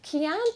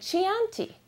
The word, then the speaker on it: Chianti: country called Kean well Kean is pronounced uh Kean with a k a hard k sound but it spelled CH H so every time my husband saw this he said Chianti over and over so